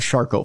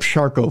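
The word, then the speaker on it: Charcot: that that I have shco foot which if you ever want nightmare fuel for yourself one night look up sharco foot it's spelled c h a r Co T it's very French and very very gruesome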